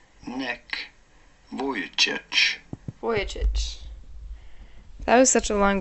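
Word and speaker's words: Vujicic: the absence of arms and legs how about pronouncing his name neck voy voyich that was such a long video for no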